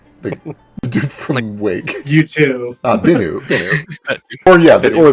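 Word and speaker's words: Bennu: the dude from wake you b or yeah or the guy from you B with two ends one of them is silent how do you spell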